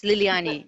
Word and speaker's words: Liliane: I think we're finding, is it Liliane? Am I pronouncing it correctly? Yes, Liliani, yes.